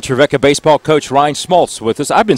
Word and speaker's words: Schmalz: a lot of different things it's a rind Smoltz am I saying it right now boasts ret